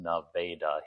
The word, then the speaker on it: Nevada: Now, while Nevada, Texas was named after the Nevada territories, even though it is pronounced Navda here, Marfa was named after Marfa Stroggo, a character in a Jules Vern novel.